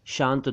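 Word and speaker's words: क्षांत: dropping erosion वगैरह क्षरण एक शब्द है शांत यह शांत नहीं है शांत दूसरा होता है यानी वह श से शुरू होता है और यह है शांत इसका मतलब है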